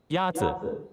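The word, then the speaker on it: 鸭子: Yazi is pronounced with a first tone. In Mandarin, there are 4 tones, which are essential to distinguish the meaning of words. The first tone is a high, level tone.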